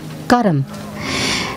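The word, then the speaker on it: कर्म: myself and my actions this word actually in Hindi or in in Sanskrit is is pronounced Kum and the literal translation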